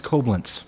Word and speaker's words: Koblenz: That's I don't know how to pronounce this. Can you take a look? That's Koblenz. Koblenz, yes.